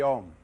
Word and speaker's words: Om: Om pronounced starts in the back of the mouth, then fills the mouth cavity, oo, and closes at the lips, When properly pronounced, you have made all the noises.